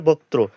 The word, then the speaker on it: বক্ত্র: এখানে আছে কি অনেক এটা কিন্তু ব কয় তয় রফলা আছে এজন্য কি বক্ত্র অর্থাৎ উচ্চারণ হবে বত্র তাহলে কি অনেক বক্ত্র